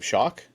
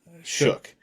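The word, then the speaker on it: Shough: Shock. Shook. Shook. That's the one.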